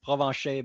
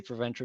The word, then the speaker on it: Provencher: In the real pronunciation is Provencher, but you can say Provencher, no problem.